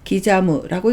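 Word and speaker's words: きざむ: 훈독은 기자무입니다. 잘게 썰다, 조각하다, 새기다 라는 뜻을 나타내서 기자무라고 읽습니다.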